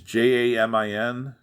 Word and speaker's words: Jamin: His real name was Yamin or Jamin Pugh. If I'm mispronouncing that, I'm sorry. It's Jamin.